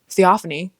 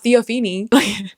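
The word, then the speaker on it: Theophanie: I figured out how to say her name theophany not theopen like the idiot I am it's theophany we saw her fighting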